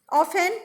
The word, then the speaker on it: often: Second, often, T is silent.